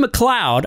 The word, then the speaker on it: MacLeod: Big thank you also to rolemusic for providing our awesome intro song titled The River, and to Kevin MacLeod, I pronounced it correctly this time, for the songs